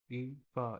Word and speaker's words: Ifa: भैया नाम IFA है पर प्रोनाउंसिएशन के लिए EFA। अच्छा अच्छा, ईफा।